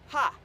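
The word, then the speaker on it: ห้า: And because the number 5 is actually pronounced ha, so 555 is ha ha ha.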